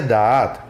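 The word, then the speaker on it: דעת: En la Biblia, la palabra hebrea que se usa para describir ciencia es la palabra correspondiente al Strong H1847 hebreo, el cual se pronuncia Da'at y significa ciencia, interpretada como conjunto de conocimientos.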